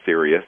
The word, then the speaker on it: Sirius: of the film uh serus which you did spell it correctly it's like the star system the brightest star in the sky is Sirius s i r i